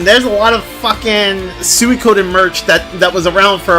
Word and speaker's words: Suikoden: By the way, it's pronounced Suikoden.